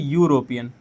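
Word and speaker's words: European: तो अगर हम देखें यूरोपियन, यूरोपियन, तो यूरोपियन, अब जब हम यूरोपियन को प्रोनाउंशिएट करें, ठीक है, तो यूरोपियन जो होता है हमारा, जो स्टार्ट होता है वो कैसे स्टार्ट होता है, उसका जो प्रोनाउंसिएशन करते हैं तो वो ऐसे स्टार्ट होता है, यूरोपियन।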